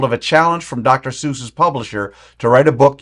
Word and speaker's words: Seuss: was Geisel's middle name, is actually supposed to be pronounced Seuss, like the word voice. But so many people pronounce it Seuss, like juice, he just gave up and embraced it.